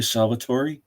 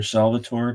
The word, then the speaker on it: Salvatore: R.A. Salvatore or Salvatore, depending on how you want to pronounce it. It looks like Salvatore to me because that's Italian.